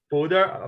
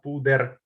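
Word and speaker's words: púder: But the R letter has to be stronger in Slovak language, like not like puder, but puder. Puder. So it's hard to pronounce.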